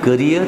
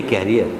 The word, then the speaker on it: career: What is the difference between career and a carrier? Carrier is wrong.